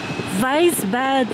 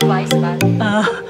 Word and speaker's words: Weissbad: So we will stay here at Weisbad Lodge. Actually, guys, they said in German, W is pronounced as V.